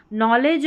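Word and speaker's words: knowledge: इसलिए मैंने यहां पर साथ ही में बता दी कि नॉलेज और एकनॉलेज में डी साइलेंट रहता है।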